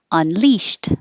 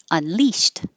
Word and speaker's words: unleashed: or miscellaneous really okay unleashed with two syllables stress on the second syllable unleashed the ed sounds like a t unleashed and then immediately we